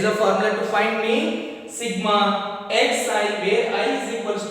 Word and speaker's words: sigma: This one sigma. How to pronounce this?